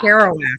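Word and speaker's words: Kerouac: one Jack's house I don't know how to pronounce that author's last name carow kowak kowak okay I didn't want to take a stab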